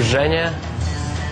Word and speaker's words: Zhenya: to catch a break I prefer jenya but a lot of people can't stay in jenya because it starts with z h and it's like kind of hard syllable I guess just say it's